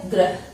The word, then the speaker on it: ग्रह: इसमें बच्चों ग्रह, र का उच्चारण हो रहा है और इसमें री की मात्रा का उच्चारण हो रहा है ना। तो र और री, यहाँ अ की मात्रा सुनाई दे रही, यहाँ ई की मात्रा सुनाई दे रही।